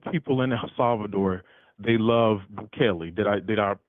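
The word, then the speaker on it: Bukele: Most of people in Salvador, they love Buchelli. Did I Did I pronounce his name correctly this time?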